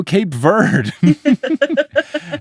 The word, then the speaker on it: Cape Verde: Go Cape Verde. And I feel like a snooty little snoot because I know that it's pronounced Cape Verde and not Cape Verde, only